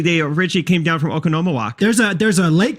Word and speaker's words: Oconomowoc: Okonomowak.